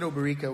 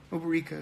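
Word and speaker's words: Obierika: Oberika, I said Oberika when I pronounced it, but Oberika, who had been gazing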